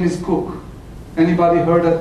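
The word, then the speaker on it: Kook: His name is Cook.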